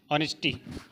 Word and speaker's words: honest: ठीक है, हमने लिखा HOTEL, हमने लिखा HONESTY, ऑनेस्टी, और क्या लिखा, HOUR।